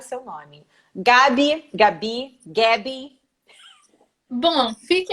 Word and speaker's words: Gaby: Gabi. Bom, fique à vontade. Bom, aqui no Brasil as pessoas optam pelo Gabi, mas eu já estou